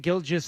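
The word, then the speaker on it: Gilgeous: with a a shake gilges Alexander we are doing the soft G on the second G yes finally I've decided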